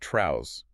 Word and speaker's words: Trouz: It's spelled T R O U Z, but it is pronounced trrow. It rhymes with trouser because as the lore strictly dictates, it is simply short for trouser.